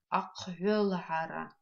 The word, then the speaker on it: аквелхара: Давайте обратим внимание на звук «х» в этом слове. Пишется он как «х» твердый знак.